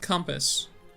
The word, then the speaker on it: compass: I've met some Americans who pronounce it like compass instead of like really pronounce the O, because the O is pronounced like a U in compass.